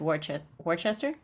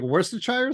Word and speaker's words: Worcestershire: And how during the trip, a man had given him supernatural intelligence of the Scots' defeat at Worcester?